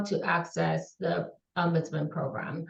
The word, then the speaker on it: ombudsman: the word so it's sometimes people are say umus what what how do you even say that word so umman is a Swedish word um and it's pronounced umman and it's a specially trained Advocate who is